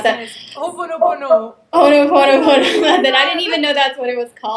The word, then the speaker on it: Ho'oponopono: How do you pronounce that? Ho'oponopono.